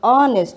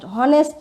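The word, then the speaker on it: honest: হ্যাঁ, অবশ্যই কনসোনেন্ট, কিন্তু এসের উচ্চারণটা অ এর মতো আসতেছে, অনেস্ট, হনেস্ট না, আসতেছে অনেস্ট।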